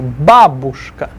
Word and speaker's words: бабушка: Stress the ba, first syllable. Бабушка.